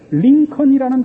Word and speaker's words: Lincoln: 링컨이라는 단어가 Lincon이 아니고 Lincoln이에요. 몹쓸 나라 말이죠. 발음도 안 하는 철자는 왜 갖다 집어넣는지 모르죠.